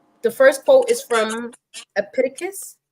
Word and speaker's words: Epictetus: And so the first quote is from Epictetus. Epictetus. Epictetus.